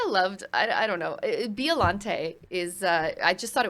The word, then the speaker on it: Biolante: I just skipped them because I was like, I don't know how to pronounce this. Yeah, it's Biolante.